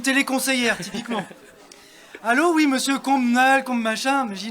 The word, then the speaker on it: Combemale: On prononce combe mal ou combe mal.